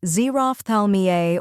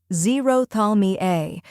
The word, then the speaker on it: xerophthalmia: The correct pronunciation is xerophthalmia. First part, Z, like the letter Z'd. Second part, Roph, rhymes with off. Third part, Thal, sounds like tall. Last part, Me-a, as in me, and Altogether, it's xerophthalmia.